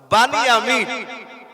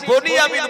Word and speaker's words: বানিয়ামিন: আর 2 number ওনার যে একটা ভাই ছিল ছোট, তার নাম ছিল বানিয়ামিন। আমরা বাংলায় পড়েছি বনিয়ামিন বলি, আমরা বলি না, আরবিতে উচ্চারণ হবে বানিয়ামিন, কিন্তু বাংলায় বলতে গেলে বলতে হবে বনিয়ামিন।